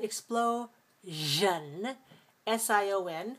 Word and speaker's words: explosion: in d sound and explo s-i-o-n with the sound explosion and then we have the